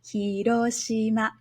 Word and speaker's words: Hiroshima: So you'll notice that Hiroshima, the hi is a lower pitch sound and Roshima is a higher pitch sound and it stays high. Hiroshima.